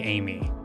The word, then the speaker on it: Ami: oh my God so it would be spelled Ami but you'd pronounce it like Amy okay that could be